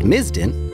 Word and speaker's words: MSISDN: Subscriber Integrated Service Digital Network Number, or MSISDN, (pronounced miz-din) which is a really fancy, long winded way